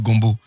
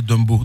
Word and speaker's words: Dumbo: Bon, c'est normal, hein, mon nom rime avec Gombo. Et il y a d'autres aussi qui m'appellent Gombo parce qu'ils ne savent pas prononcer Dumbo. Donc ils disent Dumbo, Dombo, Gombo.